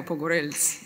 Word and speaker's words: Pogorellis: i'm not i'm pogorellis this is how i pronounce my last name um and i want